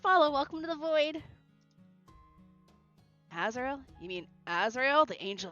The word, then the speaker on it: Azrael: Well, he is pronounced as Azrael.